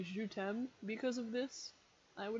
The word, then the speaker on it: je t'aime: Someone not as smart as me would probably say je t'aime because of this, I would imagine. And then tem is pronounced tem to rhyme with them.